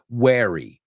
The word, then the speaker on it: wary: So, wary. Be wary. Okay, wary rhymes with scary.